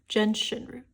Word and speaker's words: Gentian: We have Gentian root. Not sure if that's how it's pronounced. Actually, be right back. Let me look that up. Okay, I have found out that the pronunciation is Genshin.